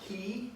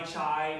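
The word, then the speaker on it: chi: f e e uh key k-e-y the C p-s-e-e so fee key to C so in um sororities and things you might say Psi Phi chai whatever no it's it's fee key to C all right and then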